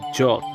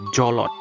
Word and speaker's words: Jolt: Ingat ya, dibacanya Jolt, Jolt. Jangan dibaca Jolot.